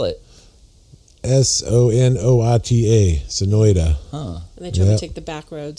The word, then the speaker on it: Sonoita: I should go too said no but no Sonoita and I would only know I got a friend Sonoita Sam with otherwise I wouldn't know how to